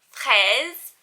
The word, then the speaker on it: Fraise: is They Stay by Claire Fraise strawberry I don't know that's actually how she pronounces it she was a